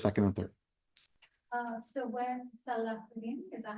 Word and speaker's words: Salauddin: So when Salauddin, is that how you say it?